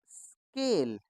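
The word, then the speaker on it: school: ऐसे ही एस सी H double O एल, इसमें भी एच हमारा साइलेंट है, तो ये क्या बन जाएगा? स्कूल।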